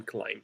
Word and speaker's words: climb: and by the way we don't pronounce the b in climb so we just say climb right don't pronounce the